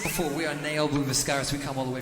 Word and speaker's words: Ne Obliviscaris: It's apparently Ne Obliviscaris. I wasn't sure on the ni or ne.